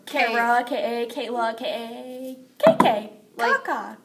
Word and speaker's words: Kaka: And I mean, the way we try to pronounce it is Karyala. Karyala. Karyala. And our last name is Kaka.